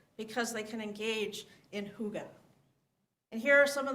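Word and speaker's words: hygge: invented and celebrate this concept that's known as Huga which is you've probably seen it spelled h y g g but it's pronounced Huga which is a fun word Huga it's a Danish word that describes the Scandinavian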